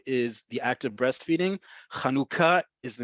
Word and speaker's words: Chanukah: hand of the page, it's Chanukah. Okay, it is not the first word, which in modern Hebrew means breastfeeding. I understand elsewhere in the world, it may be pronounced differently. In Israel, modern Hebrew, Chanukah is the name of the holiday. If you can't say cha, and you can simply say ha, or a more Sephardi